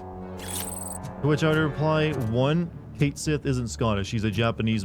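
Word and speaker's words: Cait Sith: uh speaking of contentious issues I heard that Kate Sith from Final Fantasy 7 finally had how his his name is pronounced confirmed by squarex and it is in fact Kate Sith and a lot of Scottish people or apparently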